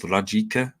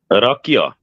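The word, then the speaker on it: rakija: What is that famous drink I keep hearing about from the Balkans, particularly in Serbian, Bosnia, called Rajika? Is it? Rakia. Yeah, that's it. That's it. It's Rakia.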